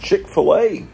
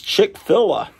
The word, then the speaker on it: Chick-fil-A: a Chick-fil-A and so I thought it was chick fill I was mispronouncing it for years isn't that something else